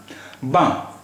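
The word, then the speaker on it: blanc: बां, बी ए एन सी, बां, यहाँ भी सी का प्रोनाउंसिएशन नहीं हो रहा है।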